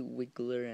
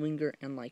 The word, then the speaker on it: Wiggler: of Winger and Hau likeu that's how I pronounce I know it's really wiggler and Leu but I call them Winger and lau why because I call them that and it